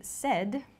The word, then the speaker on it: said: It sounds like S-E-D, the pronunciation, but it's said.